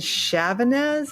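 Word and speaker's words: Chavannes: But in 1957, there were 2 engineers, Fielding and Chavanez, I believe is how you pronounce it.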